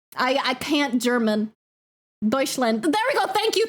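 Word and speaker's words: Deutschland: Douchand. I I can't German Deutsland.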